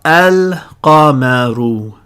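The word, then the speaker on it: القمر: This word is now al-qamaru. Al-qamaru. You'll notice there's no difference just yet. I'm pronouncing the hamza sound there at the beginning of the word, just like I did up here in ya adamu.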